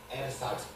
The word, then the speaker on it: ersatz: ये थोड़ा सा डिफिकल्ट शब्द है प्रोनाउंस करना, एरसाट्स, ERSATZ।